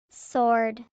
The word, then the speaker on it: sword: Rarely, when the letters SW are in a word, the W is silent.